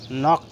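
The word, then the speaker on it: knock: Silent থাকবে বা উজ্জ্ব থাকবে। সো দেখি, নক, KNOC কে নক।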